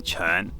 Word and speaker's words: quan: could say soft and gentle art and then churn is uh so it's spelt q-u-a-n is how you spell it in